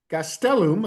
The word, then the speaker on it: Gastelum: Uh Luis Gastelum. Gastelum. I have to work on getting that accent on the middle syllable.